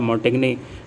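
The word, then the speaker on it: Montaigne: Pronunciation इसका मोंटेग्ने होगा, Mikail day मोंटेग्ने का नाम याद रखेंगे फादर ऑफ एसे से।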